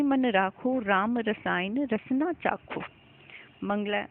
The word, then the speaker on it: चाखो: यहाँ जो आप देखेंगे कि ये जो चाशो लिखा हुआ है, ये वास्तव में चाशो नहीं है, ये चाखो है। इसका उच्चारण श न होकर ख होगा। ठीक है।